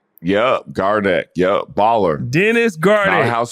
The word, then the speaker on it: Gardeck: Did I pronounce it right? Yep, Gardeck.